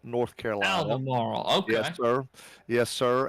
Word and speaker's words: Albemarle: Alan, it is Albemarle, North Carolina. Albemarle, okay.